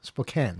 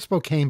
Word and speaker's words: Spokane: say it right Kyle Spokan right yeah it's spelled Spokane but you're not supposed to say it that way you're supposed to say Spokan is that okay I